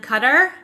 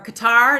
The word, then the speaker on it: Qatar: to Egypt Jordan and cutter or Qatar it's pronounced both ways um I had a